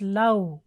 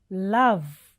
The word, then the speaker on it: love: Lot of people mispronounce this word as love. That's wrong. It is love. it should end with V sound, love.